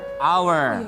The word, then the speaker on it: hour: Kalau ini our hour apa sama aura-auran. Kenapa? Kenapa sama bacanya?